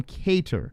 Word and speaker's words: Kattar: corrected me and now i properly call him cater yeah okay there's a big moment in mind